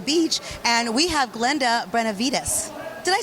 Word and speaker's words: Benevides: And we have Glenda Benevides.